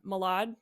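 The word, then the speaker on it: Mylod: it because it was Mark uh Malad I believe is how you pronounce his last name um and Kieran Culkin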